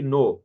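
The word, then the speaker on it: know: Suppose हम कहते हैं के एन अच्छा। ओ डब्ल्यू नो, के एन ओ डब्ल्यू नो। यहाँ पर देखें के साइलेंट है, हम के लिखते हैं लेकिन पढ़ते नहीं है, हमारे पास इसका कोई रीजन नहीं है।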